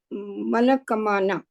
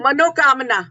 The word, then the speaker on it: Manokamana: Today, he's rendering a song from a 1980 film, Manakamana. Sorry if I'm not pronouncing it like that. Am I wrong, Kishore? Manokamana. Manokamana.